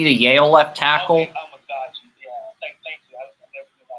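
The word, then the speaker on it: Amegadjie: Karan Amagaji, the Yale left tackle. Okay, Amagaji, yeah.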